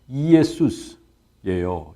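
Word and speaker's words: Ἰησοῦς: 한 곡식 발음이에요 근데요 원어로 어 헬라어로 예수를 어떻게 읽느냐 하면 이에수스예요 이에수스 그러니까 이예 수인인데 이에스를 빨리 하면 예수스 이렇게 되죠 그죠 그러니까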